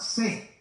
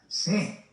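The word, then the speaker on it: Sées: Se llamaba C. Se escribe en francés S, E, otra E y una Z. C.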